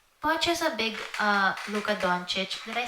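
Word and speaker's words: Dončić: And also, Poch is a big Luka Doncic. Did I say his name right? Doncic?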